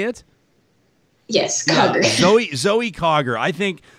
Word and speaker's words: Zoe Cogger: to remember the name zoe cog am i pronouncing it craig is it clogger is that how you say it yes zoe cogger i think like like eric is writing in